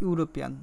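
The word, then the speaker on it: European: তাহলে এখানে কী আছে, ই আছে, ঈদে উচ্চারণ হচ্ছে ইউরোপিয়ান, এর মধ্যে ইউ আছে, ইউ আছে। তাহলে প্রথম বর্ণটা স্বরবর্ণ হওয়া সত্ত্বেও কী হবে না, এন হবে না, এ হবে, কারণ উচ্চারণটা হচ্ছে ইউ এর মতো।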